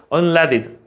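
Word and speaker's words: unleaded: 그 영어로 unled이야. 이걸 레라고 읽어야 돼. unled 납이 없는 뜻이에요.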